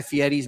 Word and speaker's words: Fieri: Grab a bold, flavorful bite any time of the day at Guy Fieri's Mount Pocono Kitchen. Fieri. All guests. Guy Fieri's. Fieri. Fieri? Oh, it's Fieri.